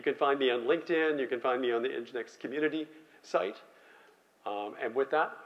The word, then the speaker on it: Nginx: But you do know that the first N is silent. The which one? The first one. The first N? Yes, and that's name is Jinx.